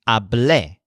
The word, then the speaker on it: hablé: Joel's word is hablé, with the stressed syllable le.